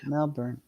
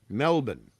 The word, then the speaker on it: Melbourne: dear but you know just pretend the r is not there just like imagine in your head the spelling of the name has no r in it Melbourne well Mel bu b